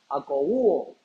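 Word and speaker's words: ἀκούω: Hermanos, la palabra del original griego para traducir oye es una palabra akouo, con acento en la U.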